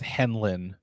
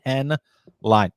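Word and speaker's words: Henline: every time I get people think the uh e is silent so they think it's henlin like no it's not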